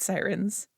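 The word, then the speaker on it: Psirens: oh those are void sirens yes siren with a silent P it's super dumb but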